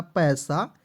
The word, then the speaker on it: pay: से होता है सा पैसा, PAY, तो P से प और आपको याद रखना दोस्तों अंतिम में AY आता है, इसका उच्चारण एक इकले के रूप में करना है, तो हो जाएगा पे।